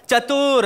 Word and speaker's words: चतुर: अच्छा तू बोलेगा, अबे अपने नाम को ठीक से प्रोनाउंस कर, चतुर। हाँ, कहीं ऊ की मात्रा इधर उधर हो गई तो नाम का मतलब कुछ और निकलेगा बे।